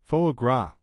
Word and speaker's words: foie gras: liver is a delicacy fo grass pronounced fagra means fatty liver in French and is a food